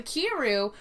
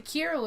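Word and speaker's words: Kiiroo: um but we want to talk about the kiru which is actually an interactive sex toy um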